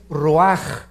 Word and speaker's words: ruach: hebreo es nep y la palabra espíritu es raj se escribe ruach entonces vemos aquí dos